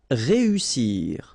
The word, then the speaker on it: réussir: Then éviter, établir, réussir. Okay, so here, vowel, second vowel here, and then double S. So in that case, you've got to pronounce it like a real strong S. S.